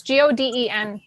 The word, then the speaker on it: Godin: Godin, I think it's pronounced. I Oh. see people say I- Godin. Godin. Got from? Not Gotham. No, it's Goden.